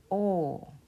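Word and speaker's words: ㅗ: It is pronounced o.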